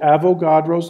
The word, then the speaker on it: Avogadro: this number it's called Avogadro's number and I'll spell that for you AVO GA Dro Avogadro after the Italian chemist who figured who